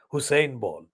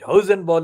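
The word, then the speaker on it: Hosenball: journalist American journalist called Mark Hausen ball not Hussein ball it hosen ball is spelled h-o-s-e-n b-a-l those two are targeted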